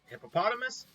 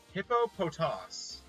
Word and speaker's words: Hippopotas: would be pronounced like hippopotamus hippopotamus right hippopotamus seems logical based on his spelling the actual pronunciation for it according to pokemon is hippopotos huh yeah no one's